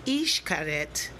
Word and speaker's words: Xcaret: you can see behind me very relaxing excaret pronounced ich karet in the mayan civilization is an archaeological site